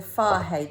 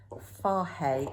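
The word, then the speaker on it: Fage: And I buy the Farhay, the total Farhay, and I know it's pronounced like that because it said it on the packet, Greek yogurt.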